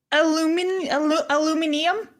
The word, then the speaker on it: aluminium: How do they say aluminum over there? Aluminium? I think they say aluminum.